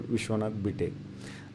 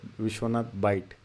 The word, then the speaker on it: Vishwanath Bite: people, and it's the correctly it is pronounced as Dr. Vishwanath Bite. A number of times people mispronounce is Vishwanath Bite, and it's not right. It's completely wrong.